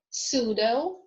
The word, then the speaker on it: pseudo: Okay, now is silent in the groups of letters PN, PS, PT. For example, pneumonia, pneumatic, psychic, pseudo, ptarmigan, receipt.